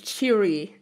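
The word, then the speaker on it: Che'ri: salience and cheery that cheery is also a name that i would have pronounced sherry like more like you know french but the narrator pronounces cheery and that was you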